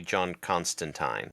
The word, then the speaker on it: Constantine: point out it's actually John Constantine because it Rhymes constan it rhymes with turpentine oh okay he gets